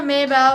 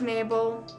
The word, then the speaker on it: Mabel: I like to call her Maybell, but apparently her name's pronounced Mabel.